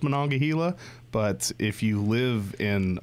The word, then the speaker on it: Monongahela: right content usually you know 90 plus 95 Monongahela no not Gila when I get Hale on gala I mean it probably is properly pronounced Monongahela but if you live in Managua Gila or